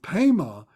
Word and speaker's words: Pema: So Pema is the Tibetan pronunciation of that Padma flower, of that lotus flower, that pure lotus flower.